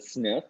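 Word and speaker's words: SNF: nursing facilities so sniff we we say it we pronounce this as a sniff that stands for Skilled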